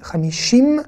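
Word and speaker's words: חמישים: Ici, Hamishim, hein, vous voyez le son I, Hamishim, mais on ne prononce pas le Yud. À aucun moment dans le mot Hamishim, j'ai dit Y, hein, j'ai prononcé le son Y.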